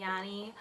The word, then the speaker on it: Yoni: a vaginal steaming and yannis party service some people pronounce it as yoni that's probably the correct terminology or way to vocalize it I like Yanni because